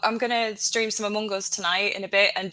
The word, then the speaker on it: Among Us: It's called pronouncing it properly. I'm going to stream some Amongos. Among you, Catherine. Among Us. It's not difficult.